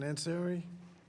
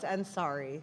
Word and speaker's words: Ansari: Anseri. Close. Ansari.